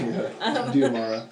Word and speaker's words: Diamara: Diamara. Diamara. You have to think of it phonetically as D-M-R-A.